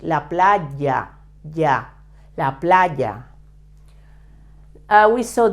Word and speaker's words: playa: Playa I told you the pronunciation of the Y in a previous lesson remember that is very similar to when you say yesterday but much with more Force La Playa yeah la playa we